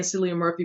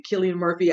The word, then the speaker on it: Cillian Murphy: be on this one I've been saying Cillian Murphy but it looks like it suppose me a Killian Murphy I have been saying it wrong having a problem corrected